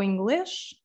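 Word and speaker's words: inglês: pronunciation is there so english the s at the end also becomes a shoe sound so english so amount again this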